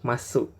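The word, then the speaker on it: ます: Yang pertama adalah bentuk masu, ya. Masu adalah bentuk positif dari kata kerja. Contoh, tabemas tuh kalian perhatikan ada masu ya. Ini dibacanya bukan masu tapi dibaca mas, ya. U-nya tidak disebut, ya.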